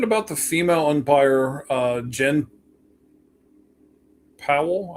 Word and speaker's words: Pawol: So we're talking about the female umpire, Jen Powell. I think it's still pronounced Powell, even though it's spelled Pawol.